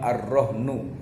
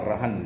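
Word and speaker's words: الرَّهْن: Ya, secara etimologi bahwa yang namanya rohan atau gade ya rohan atau rohnu gitu, karena memang baca ojo. Kalau kita membacanya memang ar-rohnu gitu ya. Tapi kalau kita rohan biasanya ya.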